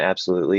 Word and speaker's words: absolutely: wrong absolutely yeah so the primary stress and absolutely is on the loo um the secondary stress is on that first syllable it is possible to reduce that first syllable to a schwa um especially if you're speaking quickly like um that's up that's